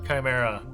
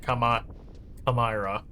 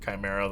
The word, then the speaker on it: Chimera: I don't know why I was pronouncing it Kami Kamra. It wasn't until I saw like the regular spelling of Chimera that I was like, "Oh, that's what they mean.